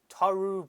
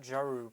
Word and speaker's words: Taurean: name in the beginning it's taru prince not geru prince i thought it was